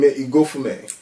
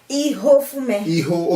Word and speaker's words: Ihofume: Okay, and then you have this name, Igofume. Ihofume. Okay, we don't pronounce the G.